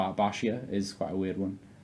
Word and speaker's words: Baxia: to pronounce like B bashia is quite a weird one people think it's called baxia it's not baxia it's bashia Basia and right now we're